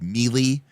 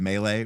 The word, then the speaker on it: melee: This is back when we pronounced it like me instead of melee.